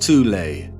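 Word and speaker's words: Thule: secret society within Germany called the Thal Society sometimes alternatively pronounced tulle that had subactions within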